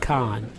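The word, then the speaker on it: Kahan: k a h an but it's pronounced Khan no I've never heard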